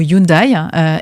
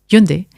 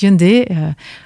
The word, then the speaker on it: Hyundai: publicité à la télé qui prononçait le mot Hyundai. Et quand les Coréens ont euh pris en charge la filiale en 2012, ils ont bien dit "Non mais ça se prononce Hyundai." Et donc on prononce Hyundai et au fur et à mesure des échanges